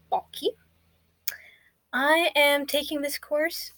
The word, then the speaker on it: Balke: Hello, my name is Balke, and everybody always mispronounces my last name. They call me Blake or Balk. It's actually Balke.